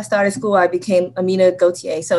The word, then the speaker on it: Gautier: puerto rican um and in puerto rico they pronounce it gautier but my grandmother is